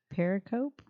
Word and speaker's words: pericope: this word right here how do you say Periscope without the s pericope no escaping it's funny kind of spelled just like Escape para copy I was close pretty close I was